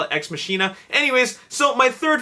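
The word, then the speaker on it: Ex Machina: in the Marvel Cinematic Universe number three is X makina I don't know why it's pronounced X makina like minina because minina is definitely derived from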